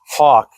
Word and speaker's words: HWK: And on Amazon, I came across HWK, otherwise pronounced Hawk.